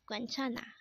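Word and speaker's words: 괜찮아: means to smile or laugh next word is quentana again this is pronounced as guenchana and this is used to say it's okay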